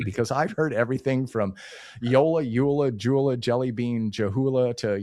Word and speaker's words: JOOLA: Yeah, so the correct pronunciation is actually Yola, which Yola. You might think with Y and J's, it might be some sort of Spanish, but no, it is German origin.